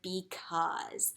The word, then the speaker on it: because: the new vowel team a u makes the sound ah and i also see a silent e over here so i know that it's not going to say anything so this is the word because so i want you